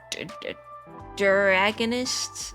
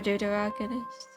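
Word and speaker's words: deuteragonist: side character, I guess, or more of a dragonist. That's not how I pronounce it. Let me see. How was it pronounced against duterogonist? Duteroggonist. He's more of a duterogonist.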